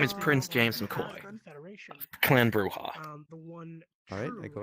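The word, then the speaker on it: Brujah: Or is it Bruja? Sorry. Bruja. It's pronounced Bruja.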